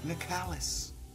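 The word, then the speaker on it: Nicalis: another game made by Nicholas Nick Ellis I think the proper way to say it is nikalis yeah you know but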